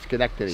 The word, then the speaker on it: Schenectady: I'm saying it right, Schenectady.